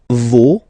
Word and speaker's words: vos: No, you don't pronounce the final s. Vos, you don't pronounce it.